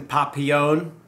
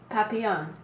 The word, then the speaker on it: Papillon: I have not seen the Jackson Papillon. Is that how you say it? Papillon.